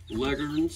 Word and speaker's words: Leghorn: here are the uh leggings some people pronounce it or Leghorn kind of like Foghorn Leghorn now the biggest one I